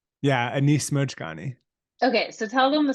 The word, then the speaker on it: Anis Mojgani: and you'll have to help me with the pronunciation the same uh Anis mohani yeah Anis mojgani okay so tell them the story because it's